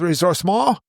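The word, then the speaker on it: ressourcement: could sometimes be called resource mall which is that uh resourcement but with a French pronunciation uh is a big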